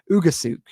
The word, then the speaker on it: Ugusuk: Ugusuk is how you pronounce it actually there.